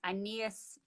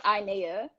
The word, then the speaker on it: Inea: and here we are anees i need her girl i can't read i nailed it did i say it correctly no it's inea oh okay the last